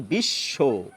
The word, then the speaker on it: বিশ্ব: তালুবস দুবার উচ্চারিত হয় আমাদের মুখে আমরা বলি বিশ্ব বোঝা গেল আবার তাছাড়াও কিছু কিছু শব্দ রয়েছে যেখানে ব এর উচ্চারণ রক্ষিত হয় যেমন এই যে ক দ